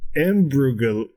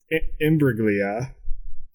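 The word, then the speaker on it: Imbruglia: of these performers uh yeah uh so natalie ambrough imbreglia yeah you said it right uh they performed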